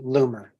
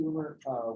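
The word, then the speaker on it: Loomer: If you'll state your name and spell it. Lumer.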